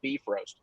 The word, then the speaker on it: Bifrost: We went to a lot of lengths, to try to justify things like, the Bifrost, which is actually pronounced beef roast.